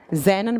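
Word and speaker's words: जेनॉन: krypton Kristen krypton से से को बोलते हैं जेनों प्रोनाउंस करते हैं इसको इसको स्ट्रेंजर गैस कहा जाता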